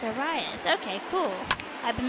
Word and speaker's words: Arias: Oh, it's Arias. Okay, cool. I've been mispronouncing his name the entire time.